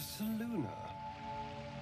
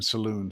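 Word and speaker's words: Selûne: a shrine to Saluna Queen. Saluna. Saluna. I've been saying Saloon. Saluna. Okay. Obviously, it's pronounced Saluna.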